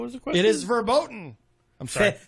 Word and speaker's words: verboten: It is verboten. I'm sorry. Verboten. Is that how you say it? The V is pronounced like an F.